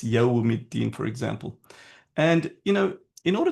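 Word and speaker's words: يوم الدين: Okay, and then the next issue that Enes Kardeş had was, why are the scholars emphasizing on the pronunciation, Maliki Yawmiddin, it's Yawmiddin, for example.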